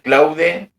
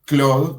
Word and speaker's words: Claude: Claude, creo que pronuncia Cloud, que es de Antropic, que es con TH 3.5 o 3.7.